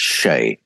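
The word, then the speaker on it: sídhe: They spoke about something called the Shay, which is spelt Seether, but it's pronounced Shay.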